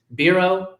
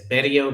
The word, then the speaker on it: Bero: Her name is Kenneth Bureau. And although I have been pronouncing it in my head as Bio because I made her Puerto Rican just like I am.